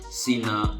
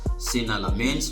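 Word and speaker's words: Senne: So that is half of the matches played and you see that um another outstanding performance came from Sena Lemans sains rather that is how is pronounced smens and of course he made a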